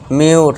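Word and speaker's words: mute: अब यहाँ पे यू का उच्चारण क्या करना है? यू करना है। तब इसे क्या पढ़ेंगे? म्यूट।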